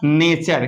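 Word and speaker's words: nature: अभी यू आर देखो टी के बाद आएगा तो इसका उच्चारण क्या होगा च सॉरी चर होगा तो आप देख सकते हैं एन ए टी यू आरई इसको चर पढ़ेंगे तो हो जाएगा नेचर क्या हो जाएगा नेचर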